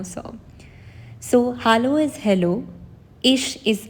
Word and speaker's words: ich: So hallo is hello, ich is I. Again, be careful that when you pronounce, so ch is not ch in German, it's sh.